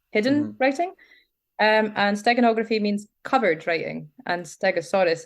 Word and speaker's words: steganography: you pronounce it again steganography like stegosaurus steganography like stegosaurus that is